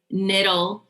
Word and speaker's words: Nittle: So it's Nittle. It rhymes with little, but it starts with an N as in Nancy.